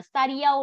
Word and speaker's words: studio: Cô chỉ sửa cái từ này thôi, con đọc là studio đúng không? Studio chứ không phải là như kiểu study để học đâu, mày đọc là studio nha.